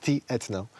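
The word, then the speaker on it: Tętno: with a guy called Tetno. Okay. T-etno. You spell it T-etno. So it's Tetno, it's like pulse.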